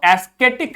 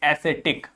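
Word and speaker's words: ascetic: ध्यान से समझिए, इसको एस्केटिक नहीं पढ़ेंगे, इसको पढ़ेंगे एसेटिक।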